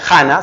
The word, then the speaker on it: Hannah: Ese libro, de la autora se llama Ana, o sea, Hannah, se escribe con H, Hannah con doble N, Hannah Arendt, acaba con DT.